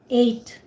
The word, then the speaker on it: ate: I think it's pronounced Eight.